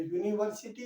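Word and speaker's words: university: जो उसकी प्रोनाउंसिएशन है। उसमें यूनिवर्सिटी है। यूनिवर्सिटी से आपकी साउंड चल रही है।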